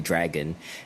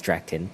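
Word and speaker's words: Draken: and drakken um i i thought they might have been mispronouncing drakken for a long time i i thought that his name must be dragon and they're just like they but yeah turns out his name is is drakton i think it helps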